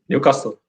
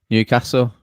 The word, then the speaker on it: Newcastle: Yeah, because he was saying everybody in Newcastle says Newcastle. Brandon, how do you say Newcastle? Me? Newcastle. Just like Carl, how do you say it, Carl? Pardon? How do you say it? Newcastle. Yeah, it's more better. Whereas I think it's more of a London thing, isn't it? Where they go Newcastle.